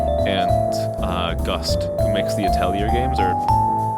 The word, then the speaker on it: Atelier: Falcom, who does Trails and Ys, and Gust, who makes the Atelier games, or I prefer keeping, like, the French pronunciation of, like, Atelier, but the Japanese games